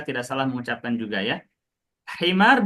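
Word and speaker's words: حمار: Himar dengan huruf ha teman-teman atau pakai kha? Ha. Nah, biharfil ha. Kalau bacanya khimar pakai kha itu artinya berubah loh. Apa artinya khimar? Yang dipakai sama ibu. Jilbab gitu. Padahal tipis ya. Pengucapannya itu tipis gitu antara ha sama kha, antara hi sama khi.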